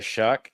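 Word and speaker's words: Shough: Uh, the New Orleans Saints did get Tyler Shuck. That's spelled with a gh for those of you who hate the American English language.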